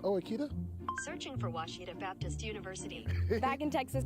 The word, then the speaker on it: Ouachita: oh Akita soon for Washita Baptist University back in Texas everybody pronounces it Wichita but really it's Ouachita Washington how would you pronounce it it's Ouachita Baptist University it's Ouachita people it's Ouachita Washita welcome back to